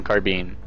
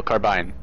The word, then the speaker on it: carbine: did secure a plasma carbine no carbine uh someone corrected me in the chat rhymes with nine um chrysalid corpse all